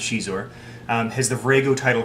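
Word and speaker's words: Xizor: determination right then prince i want to say zeiser but i know it's pronounced she's or um has the virego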